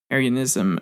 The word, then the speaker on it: Arianism: the way since it's not like area not like the Aryan race but arianism uh is uh again